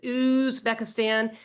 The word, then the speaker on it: Uzbekistan: Yes, that's how it's pronounced. Uzbekistan.